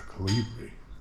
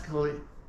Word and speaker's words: Colibri: house is called Casa Calibri. Casa Calibri. No, I'm saying it wrong. Why have I? That was mostly right. Okay, Casa Colibri.